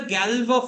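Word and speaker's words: Galois: how it goes so Gallo field we call is the Galva field okay the pronunciation is like that g f p to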